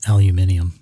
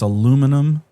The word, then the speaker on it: aluminum: Uh, at this point it's probably aluminium. Aluminium. How dare you? Turn British on me. It's aluminum.